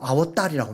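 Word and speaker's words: अवतार: 그 아바타라는 단어가 뭐냐면요, 인도 신이 또 다른 신으로 현현하는, 다른 신으로 나타나는 그 단어를 산스크리트어로 아워따리라고 합니다.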